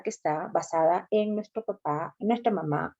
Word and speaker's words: papá: Recuerden que el papá, la palabra papá lleva tilde, así como mamá. En el caso de papá, si esta palabra no tuviera tilde, entonces sería papa. Y si empieza con mayúscula, estaríamos hablando del Papa Francisco, ¿no?